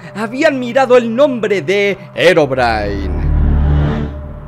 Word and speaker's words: Herobrine: Herobrine, también pronunciado Herobrine o Herobrine, aunque inicialmente conocido por